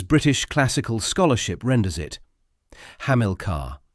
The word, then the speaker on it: Hamilcar: The name is pronounced as British classical scholarship renders it Hamlcar stress on the second syllable which is also how it appears as the primary entry in Collins English dictionary.